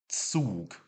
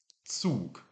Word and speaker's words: Zug: And then the German Z, remember, it's a bit like that, a bit like saying TS. So we've got Zug. Zug for train.